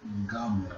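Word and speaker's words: גמל: How do you pronounce this one? Gamal.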